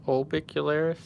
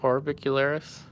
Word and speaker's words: orbicularis: Oris although you know I hear a lot of artists call this ol bicular instead of orbicularis so I'm kind of starting to wonder if I got it wrong but it's definitely spelled with an R don't know English is